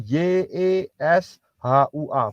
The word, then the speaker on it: Yeshua: nulis yesua gimana caranya pasti jawab gini kan y e s h u a Betul kan saya bilang salah itu hanya cara